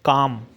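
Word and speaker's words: calm: जी S silent है काम सी ए एल एम काम माने होता है शांत इसमें भी एल साइलेंट है नेक्स्ट है टॉक टॉक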